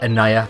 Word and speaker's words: Annaya: Annaya. And yes, I did get the pronunciation correct this time.